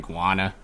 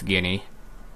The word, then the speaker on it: Guinea: I'm guessing that's how you actually pronounce it, guinea, since there's guinea pig, but I keep saying guana. Yeah, it's guinea.